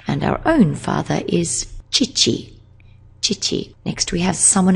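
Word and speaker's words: 父: Oto-san, that's someone else's father, and our own father is chichi.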